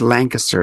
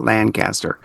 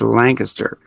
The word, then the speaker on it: Lancaster: And by the way, it is pronounced Lancaster, not Lancaster. I heard somebody calling it Lancaster, and it bugged me. It is Lancaster.